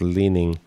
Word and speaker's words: Lining: mcdonald calls him although his last name is pronounced leaning like like the chinese apparel brand chinese brand he doesn't